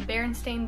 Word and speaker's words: Berenstain: you think it spelled everyone always thought it was like stein s t e i n after looking back it's been s-t-a-i-n berenstain and like there are